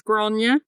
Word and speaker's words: Gráinne: Yeah, if you're pretty close, it's Gro. Gro.